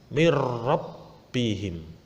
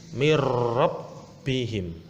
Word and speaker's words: min rabbihim: Cara membacanya harus dimasukkan tanpa mendengung. Jadi langsung masuk. Contoh, mirrabbihim. Nah, langsung masuk, tidak boleh itu tidak boleh, itu salah, langsung masuk tanpa mendengung. Mirrabbihim.